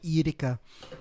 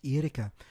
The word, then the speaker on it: Erika: Her name is I like to pronounce it very, very Belgian, like Erika, but Erica's if you just English make it Americanized. But she always corrected me. She said, "No, it's not Erica, it's Erika."